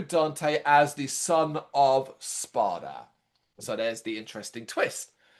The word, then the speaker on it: Sparta: Yeah, you can easily mispronounce it, but it is Sparta, not Yeah, Spot. yeah, D spy, yeah. instead of A, Sparta, the Demon Lord.